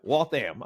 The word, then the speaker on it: Waltham: about just being a guy from walam that's how you pronounce it right Waltham walam so walam okay there we go